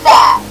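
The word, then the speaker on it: phat: Fat, spelled P-H-A-T. The Redditor explained that fat, meaning pretty hot and tempting, pronounced just like fat, F-A-T, was different back in the day.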